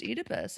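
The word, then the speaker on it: Oedipus: I think it was probably that it's pronounced Edypus.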